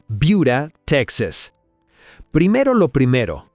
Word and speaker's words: Buda: Buda, Texas. Primero lo primero, se pronuncia Buda, no Buda.